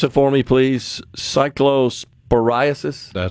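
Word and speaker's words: cyclosporiasis: deals with the outbreak of Can you pronounce it for me, please? Cycllosporasis.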